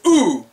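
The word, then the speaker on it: う: that's your second hiragana next one up is ooh pronounced ooh as in I don't know you're a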